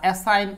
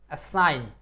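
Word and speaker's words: assign: meant বানানে তো কোন সমস্যা নাই meant R এসাইন A double S আইজি এন A double S আইজি এন এসাইন আচ্ছা এইখানে আপনাদের একটা নিয়ম বলে থাকি সেটা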